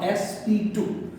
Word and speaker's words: sp2: Now, the second example or second type, better to say, it is your sp2. We should not pronounce it sp square. इसको हम लोग sp square नहीं बोलेंगे, इसको हम लोग बोलेंगे sp2.